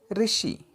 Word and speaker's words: ऋषि: इसे हम उच्चारण करते समय री के ध्वनि से उच्चारण करना है। उदाहरण के लिए हिंदी में शब्द है ऋषि, इसे हम री से ही ध्वनि के साथ बोलना होगा।